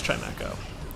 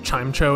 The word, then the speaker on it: Chimecho: And Chimecho goes down. Remember I used to pronounce it Chimecho as a kid? But then I watched the anime and they called it Chimecho, and I was like, ah, I understand perfectly now.